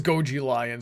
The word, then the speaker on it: Goji Lion: Okay, so it is Goji Lion. So you've just been letting me say it wrong for the several years that you've been in my Patreon.